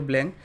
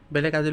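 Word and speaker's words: Blanc: বি এল এ এন সি নাম হবার লাগে ব্ল্যাঙ্ক কিন্তু একচুয়ালি একটু ব্লক বলে প্রোনাউন্স করে সো ফ্রেন্ডস এ পারফিউমের কোয়ালিটি ইয়ার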